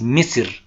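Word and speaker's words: مصر: Bueno, Egipto, cuyo nombre en árabe es Misr, no es Egipto, en árabe no se dice Egipto, es una palabra occidental, tiene un antecedente muy importante y ustedes lo ven ahí en la pantalla.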